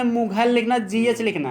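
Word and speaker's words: Mughal: मुगल सराय, मुगल में मुगल लिखना, GH लिखना है, GH से गा पढ़ा जाता है, घा नहीं पढ़ा जाता है, कहीं भी घा नहीं पढ़ा जाता GH से।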